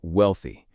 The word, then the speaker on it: wealthy: Let's practice the word wealthy. The th sound is important here.